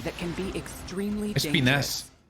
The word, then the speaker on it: Espinas: Espinas. Con acento en la A.